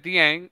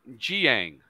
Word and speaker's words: Dieng: Not Dieng. Dieng. The D is silent, sounds like a J.